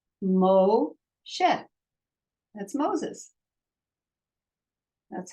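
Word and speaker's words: משה: One vowel, one syllable. Moshe.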